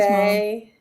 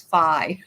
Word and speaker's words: Faye: Hi, Harry's Faye. Mom. Yeah. It's pronounced Faye. I'm sorry, Faye. I thought it was Phi.